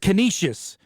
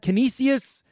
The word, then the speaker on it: Canisius: any pronunciations on it it's not kinesius it's Canisius make sure uh if you're